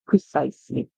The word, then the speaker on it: precise: it all right but a lot of the times in English when s comes before E you can hear a z sound like cheese you hear Z but this word it's pronounced as precisely precise prise all right what does